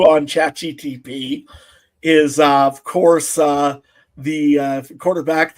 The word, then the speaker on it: ChatGPT: Just to correct you here, Adam, before the comments get to it, it's ChatGPT. That's what I said. Yeah, you've been saying GTP.